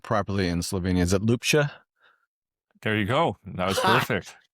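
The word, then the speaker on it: Ljubša: I've been buddy Mike or Michael, and I want to pronounce the last name properly in Slovenia. Is it Ljubsa?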